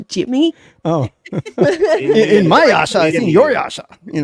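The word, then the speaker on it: Inuyasha: that I cannot pronounce is it mini Minasha or something minha it's in Yasha Jimmy oh in my Yasha I in your Yasha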